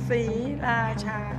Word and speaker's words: Sriracha: Three very distinct syllables. Sriracha.